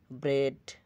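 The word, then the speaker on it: bread: ড্রিম স্বপ্ন clean পরিষ্কার কিছু ক্ষেত্রে ই এর উচ্চারণ এ হয় ব্যতিক্রমগুলো হল ব্রেড রুটি হেড মাথা হেড ডেড মেত মেন্ট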